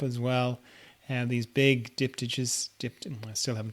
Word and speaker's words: diptych: well and these big diptyches dipped in we're still having trouble saying that word how do you say that word diptics diptych okay so it's a k sound all right okay yeah